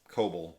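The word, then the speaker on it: Cobel: Coble is how they say it in the show.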